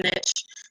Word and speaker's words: niche: A lot of coaches get overwhelmed because they're trying to pick that perfect, I'll use the Canadian pronunciation, niche. We sound so civilized up here. Niche, it's the same thing, tomato.